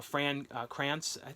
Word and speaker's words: Fran Krantz: and this started alyson hannigan and you know Fran Krantz that's how you say his name who was